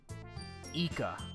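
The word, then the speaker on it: イカ: on man what's man squid in Japanese eeka oh it's eeka all right that makes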